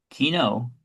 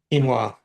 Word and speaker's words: quinoa: Swordfish with spinach and green beans with I can never pronounce this right. Kino kino quinoa.